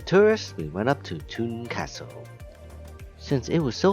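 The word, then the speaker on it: Thun: that it was pronounced th but it's actually pronounced tun off we go and tickets Please tickets please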